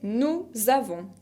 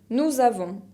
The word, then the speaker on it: nous avons: La première personne du pluriel, c'est nous avons. Nous avons. No pronuncio la S final de avons, pero lo que hago es la liaison entre le pronom et le verbe.